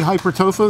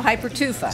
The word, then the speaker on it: hypertufa: we're we're right now i said it wrong again didn't i no hypertufa hypertrophy see i knew i was going to say it wrong tofu when we come back